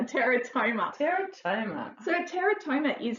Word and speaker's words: teratoma: Is that how you say it? Yes, a teratoma.